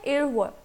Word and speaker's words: 일월: इसका pronunciation है 일월.